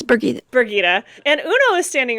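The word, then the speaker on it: Birgitte: We see Bridget, I can never remember how to say her name. It's Birgitta.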